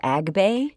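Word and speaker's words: Agbay: We're going to bake the cakes, and then we are going to cool them and level them with is it pronounced Agbe?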